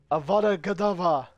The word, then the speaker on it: Avada Kedavra: Avada Kedavra.